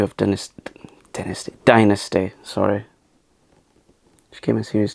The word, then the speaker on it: Dynasty: I love things like Dynasty. That's the proper way to pronounce Dynasty because Dame Joan Collins pronounces it Dynasty, and of course Joan Collins played Alexis Morel, Carrington, Colby, Dexter, Rowan.